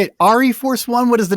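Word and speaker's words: ArieForce One: Well, I've been saying Airy Force One because it's Airy like Force One. Like a play on Air Force, So I have no idea how the family pronounces their name, but that's the way I've been calling it.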